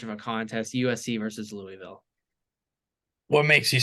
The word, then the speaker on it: Louisville: It's just, I think Louisville's gonna win. That's how you say it. Just so you know, I was just there this past weekend. That's how you say it down there, Louisville.